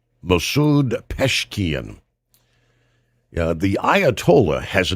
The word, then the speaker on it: Pezeshkian: Peshkian, I believe is the way you pronounce his name. Masoud Peshkian.